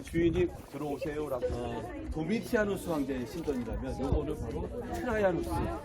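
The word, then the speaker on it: Domitianus: 신상이 세워져 그 사람들은 산문의 영향을 받다 보니까 트라이안이라고 하는데 도미티안, 트라이안, 하드리안 이렇게 불렀어요. 정확한 표현으로는 도미티아누스 발음이 안 좋습니다만 이해하세요.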